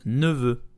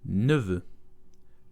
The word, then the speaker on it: neveu: Today we will learn how to pronounce neveu in French, which means nephew. Let's go. Neveu. Neveu. Very slow. Neveu. Neveu. So here you have two vowels and neither exist in English.